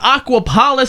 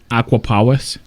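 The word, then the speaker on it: Aquapolis: seriously ah treasure hunts the aquaplus has been added excuse me it's pronounced the aquaus the aquaus has been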